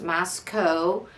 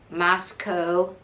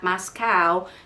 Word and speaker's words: Moscow: It's pronounced Moscow. You can remember because it rhymes with Idaho. So, Moscow, Idaho. It is not Moscow because it's not Idaho.